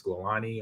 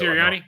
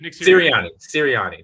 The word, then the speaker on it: Sirianni: I forgot how to say the head coach name. They was Scolani or something like that. I messed it up. Sirianni? Nick Sirianni.